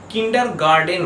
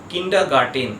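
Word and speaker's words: kindergarten: সাধারণত লোকে উচ্চারণ করে কিন্ডার গার্ডেন বলে এমনকি অনেক টিচাররাও এই উচ্চারণটাকে করে থাকে কিন্ডার গার্ডেন কিন্তু ঠিক উচ্চারণটা হবে কিন্ডার গার্ডেন কিন্ডা গার্টেন যেহেতু টি আছে তাই উচ্চারণটা হবে কিন্ডা গার্টেন এর পরের ওয়ার্ড হলো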